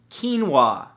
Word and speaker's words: quinoa: beautiful thing number two quinoa spelled ke en wuah no that's not how it's spelt at all but it should right come on English now the great thing about